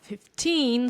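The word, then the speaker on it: fifteen: have to pay attention where the stress falls. For example, if we have 15, so the stress is on teen, and we have 50, so the stress is on fifth here.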